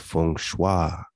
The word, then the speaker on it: feng shui: system of geo mancy feng shui pronounced fung shua is the signs of